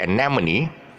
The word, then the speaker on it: anemone: really look at it anemone the stress should be on and now mo anemone and or also is a is a weak syllable sound and anomaly and